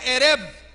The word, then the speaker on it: ereb: La Biblia dice, al atardecer, la palabra atardecer es una palabra hebrea que se pronuncia ereb. Y la palabra ereb significa, se levantó bien tarde, a la caída del sol, casi de noche.